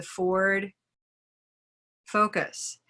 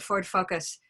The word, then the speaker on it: Ford Focus: the Ford Focus and no matter what you do to that you can put the stress in the first syllable or the last syllable but if the vowel is off it's a problem no matter what and so the problem